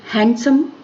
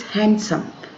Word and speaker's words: handsome: Then handsome, this is not handsome, this is handsome, D is silent here.